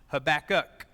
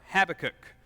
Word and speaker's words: Habakkuk: yet again with Ibaka now you may have heard it pronounced Habakkuk or Habakkuk I'm from the deep south I was taught pavakah to say it however you